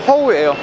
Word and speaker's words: 허우: 후덕죽의 후가 중국어로 발음하면 허우예요. 그래서 중식당 이름이 허우입니다.